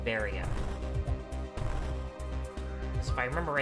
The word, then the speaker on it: Varia: it is actually pronounced baria if i remember it's a mistranslation on barrier which is what it was initially meant to be called but then they just